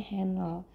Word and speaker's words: Henle: Loop itu lengkung atau leher, Henle ya bacanya sebenarnya Henle ya, lengkung angsa karena dia mirip seperti leher angsa ceritanya.